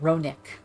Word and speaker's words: Ronek: Oh, that's how you say it, Ronick.